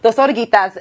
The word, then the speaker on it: Dos Oruguitas: Dos Oruguitas, that's the pronunciation.